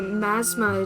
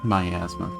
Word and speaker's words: miasma: Maybe the Masma attracted them somehow. Miasma.